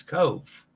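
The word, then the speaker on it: Cobh: how good is Dennis with Irish the pronunci pronunciation of um it's Cove yeah that's correct this is I had that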